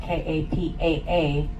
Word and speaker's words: Kapa: Every vowel is pronounced. Therefore, my town, Kapa, K A P A, it's Kapa.